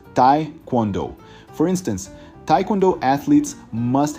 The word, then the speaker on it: taekwondo: and spinning jump kicks the pronunciation can be tricky it's ta quondo for instance Taekwondo athletes